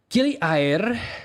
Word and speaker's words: Gili Air: Air is the Indonesian word for water. It's spelled like air. Tell me that isn't confusing. But Gili Air, which is how they pronounce it, is a tiny island